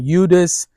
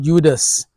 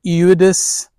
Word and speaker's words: Eudes: So some would call him Eudes, but not Judas, but Eudes. So it depends on how you pronounce it. It's a French name, and he was a